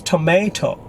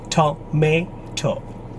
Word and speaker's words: tomato: For Americans, the syllable is may, tomato. British, tomato, tomato.